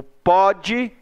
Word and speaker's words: pode: O pode, você pronuncia com som aberto. O pôde, você pronuncia com som fechado. Então esse acento circunflexo está aí para dizer que o som ali é fechado.